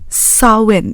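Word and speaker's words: Samhain: 31st October they celebrated um a festival called sawin It's pronounced like this but it's spelled s m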